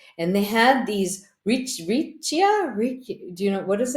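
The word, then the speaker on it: riccia: they had these rich Richa do you know what is it um I don't know is r i c c i a I'm probably not saying it correctly do you know what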